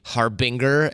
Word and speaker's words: Harbinger: The So- answer is both are totally fine, and even I switch it up sometimes if I'm trying to get somebody to spell it right. Yeah. I'll say Harbinger, and if I say it normally, I say Harbinger. But if we pronounce it Harbinger, it's almost like you're a harbinger of doom.